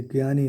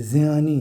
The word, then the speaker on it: ज्ञानी: बहुत लोग इसको ज्ञ कहता है और ज्ञानी शब्द लिखे थे, लेकिन ये ज्ञानी नहीं है, ये ज्ञानी है, ज्ञानी। ज और य मिल करके ज्य बन गया, ज्ञानी।